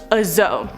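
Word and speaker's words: dzo: want 10 of them on to number four azo this is spelled d-z-o or d-z-o the zo is a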